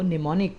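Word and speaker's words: mnemonic: जो कोड्स है उनको निमोनिक कोड्स कहते हैं इसमें एम साइलेंट है और इसको पहा जाता है निमोनिक्स स्टार्ट का जो एम है यह साइलेंट है निमोनिक बल निमोनिक कोड्स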